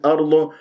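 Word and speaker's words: أرض: نضم الشفاء فيها ارض والهمزه في كلمه ارضه كما مرت معنا مرققه تفخم الراء لانها ساكنه قبلها مفتوح فانت ممكن تقول ارض او لا يوجد لدي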